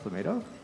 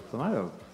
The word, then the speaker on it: Plumato: Dirty Dog donates $50 saying, it's pronounced Plumato. I thought it was Plumato.